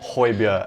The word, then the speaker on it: Højbjerg: have gone and signed pierre emil hoybia as he says is pronounced his name the cdm from southampton